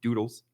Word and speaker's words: doodles: can use the code doodles on the website d-o-o-d-l-e-s rhymes with noodles appropriate i think uh